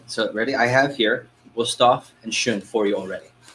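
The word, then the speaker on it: Wüsthof: How do you pronounce it? Ready? Wusthof and Schön.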